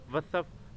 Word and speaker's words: وصف: آپ نے ڈالنی ہے۔ وصف، وصف، واو کے اوپر زبر اور سواد کے اوپر جزم۔ تبا، تبا، توئیں کے